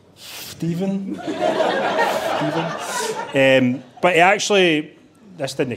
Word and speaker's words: Stephen: Stephen with a PH, I think it's pronounced Stephen.